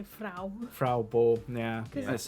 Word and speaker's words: Frau: beau from i just i'm going by like how they pronounce it in the film which is frau yeah i try to